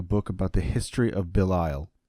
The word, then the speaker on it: Belial: As I mentioned in my last podcast, I will soon be releasing a book about the history of Belial, or Belial, which is how it actually is pronounced.